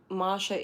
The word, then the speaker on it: Masha: Also, just in case uh for anyone in the future, Masha is spelled without an R.